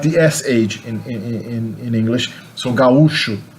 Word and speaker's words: gaúcho: But in Brazil we say gaúcho. There's a hiatus there, not an ow diphthong, so au, gaúcho.